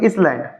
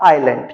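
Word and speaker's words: island: तो इसे देखिए बेटा, ये क्या लिखा है, बहुत से बच्चे से क्या पढ़ रहे होंगे, इसलैंड, बट एक्चुअली में क्या होता है, आइलैंड। क्या होता है, आइलैंड। ये एस जो होता है वो होता है साइलेंट, तो ये क्या होता है बेटा, आइलैंड।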